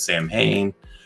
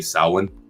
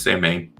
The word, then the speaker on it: Samhain: or what, some people might know in as Samhain. Actually, it's not the way you pronounce it. It's actually Samhain.